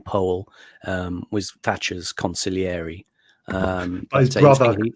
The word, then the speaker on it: Powell: Ali referring to um Charles Powell he actually pronounces his name Paul um was Thatcher's conil